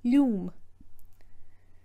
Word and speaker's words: liom: So you may have noticed that in Iarlo Linnard's rendition, he pronounces liom as lúm.